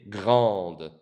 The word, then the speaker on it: grand: The D is silent.